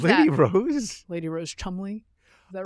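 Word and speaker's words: Cholmondeley: Lady Rose Chumley. Is that right? Is that Yes. her name? It's said. It's spelled very differently than that.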